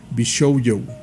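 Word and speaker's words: 美少女: Me corrige Rash y me dice que se pronuncia Bishoujo.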